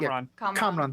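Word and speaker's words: Kamran: kid help uh Karam am I pronouncing that comron thank you get away I I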